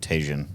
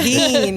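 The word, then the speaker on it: Tajín: I've always thought it was called Tajin. Yeah, it's spelled like that. Tajin, right? Yeah. Tahine. The Tajin and Tahine.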